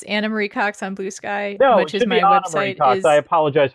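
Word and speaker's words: Ana Marie Cox: Blue Sky I am Dan drner she is animar Cox uh is that also sounds different than my actual name it's anamarie Cox on Blue Sky as my I apologize for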